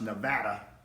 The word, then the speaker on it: Nevada: Incarnate Word has some really good football players, and yes, I do think they're going to upset Bowl Subdivision Nevada, and it is pronounced Nevada, this afternoon.